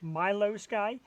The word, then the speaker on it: Milou Sky: spray painted there's Milo m-i-l-o-u Sky it is pronounced Milo Sky the guys want to make sure they just